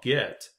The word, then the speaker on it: git: community and that one is called get and that's spelled git and git is really